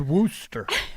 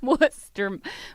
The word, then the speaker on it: Worcester: No, that's Worooster. Worster. Worooster, Mass. Yeah. Worooster. Named after what a what a what a chicken noise does. Whatever that Yeah, I It's spelled like Worchester. Worester. They call it Worcester.